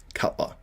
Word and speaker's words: Cutler: Tim Wilkin said, we may see a comeback that's talking about a specific name, and then Tim Wilkin said, rhymes with Butler. Obviously, Cutler.